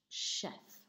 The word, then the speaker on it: chef: Be careful with the beginning sound is sh, chef.